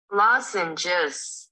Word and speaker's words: lozenges: Lozenges. Đó, nó nhấn từ đầu tiên ha.